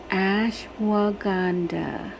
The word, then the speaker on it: ashwagandha: Ashwagandha. That's how you pronounce it.